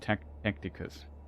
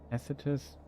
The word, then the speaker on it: Tacitus: I always read Tacticus. Tacitus, how it's pronounced.